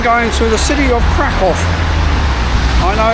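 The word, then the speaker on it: Kraków: I am going to the city of Crack off. I know it's got crack and people still say crackow, but as my Polish friends will say, no, no, no. It's pronounced crack. So, I'm heading to Crackov for five nights.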